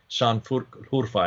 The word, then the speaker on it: Şanlıurfa: Şanlıurfa, as she pronounces it.